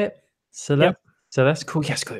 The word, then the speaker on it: Celeste: Celeste.